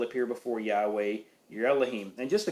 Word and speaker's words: Yahweh: four letters yod wah that's typically pronounced Yahweh um that is we